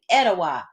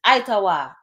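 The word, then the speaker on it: Etowah: Nation it means Nation that's why the etawa Mounds are named etawa it's itawa it means Nation it was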